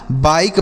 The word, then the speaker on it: bike: तो अगर किसी भी शब्द के लास्ट में ई रहे उसे नहीं पढ़ते हैं।